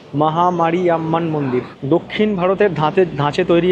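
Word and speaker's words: Mariamman: নামগুলো এমন এমন না আমি এটাকে পড়েছিলাম উচ্চারণ করেছিলাম মহামারী ইয়াম্মান তো ও আমাকে মানে উচ্চারণটা সংশোধন করতে বলল মহামারী ইয়াম্মান মন্দির দক্ষিণ ভারতের ধাঁচে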